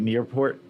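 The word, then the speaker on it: Niepoort: Am I pronouncing it right? Nearport.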